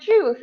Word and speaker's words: juice: Oh, the same with the word juice. Absolutely. We Yeah. don't pronounce the I in the word juice as well.